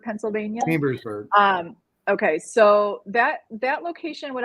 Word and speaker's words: Chambersburg: Is it Chamberburg, Pennsylvania? Chambersburg.